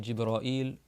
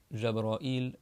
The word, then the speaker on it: Jibril: Et Gabriel, parce qu'on dit Jibraïl, Jabraïl, Jibril, il y a plusieurs manières de prononcer.